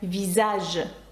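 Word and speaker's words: visage: читається як з з таке слово як візаж обличчя візаж ви можливо його знаєте через марку нівея візажж да візаж - це обличчя і бачите що літера с між двома голосними Тому це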